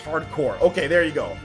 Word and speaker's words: Hard Corps: Hard Corps is pronounced hardcore.